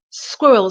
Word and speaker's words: squirrel: apologize um squirrel squirrel so for the squirr my lips are rounded and my tongue is at the bottom of my mouth squ squ so round mouth squir squir and for the real sound at the end my tongue comes up and ends up between my teeth squirrel squirrel squirrel so